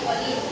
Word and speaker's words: choline: Mga bata, ang tamang pagbigkas ng salitang ito ay choline.